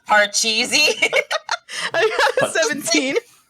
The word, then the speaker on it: Pachisi: You're calling it Pachisi, but it's pronounced Parcheesi.